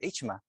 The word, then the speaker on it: Ichma: Lo escriben con Z, Isma, pero es Ichma, en realidad.